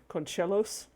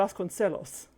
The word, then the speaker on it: Vasconcelos: Conchelos, pronouncing the CE in a Spanish word as ch. That is not a thing that happens in Spanish. That's Italian. It would be Vasconcelos.